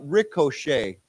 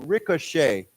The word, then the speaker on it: ricochet: h t it's pronoun this is a French word so it's Shay okay so Ricochet Roch Ricochet Ricochet okay and and